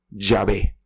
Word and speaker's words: Yahvé: Algunos pronuncian esto como Yahvé.